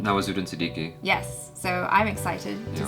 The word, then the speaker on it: Nawazuddin Siddiqui: Nawazuddin Siddiqui.